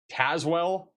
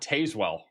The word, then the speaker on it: Tazewell: Delavon is Delavin, and Tazwell, not Tazewell.